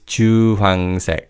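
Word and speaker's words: 주황: Now the next color word is orange and this is chuang. Now you may have noticed already but the he letter is silent in the second syllable in fast speech.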